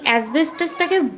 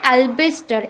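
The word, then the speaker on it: asbestos: দেখো আমরা কিন্তু অনেকেই এই অ্যাসবেস্টাসটাকে ভুল উচ্চারণ করি, আমরা কিন্তু অ্যালবেস্টার এরকম ধরনের কথা বলি, কিন্তু কথাটা মাই ডিয়ার স্টুডেন্টস এগুলো কিন্তু এটা নয়, আমরা কথাটা কি বলবো, অ্যাসবেস্টাস।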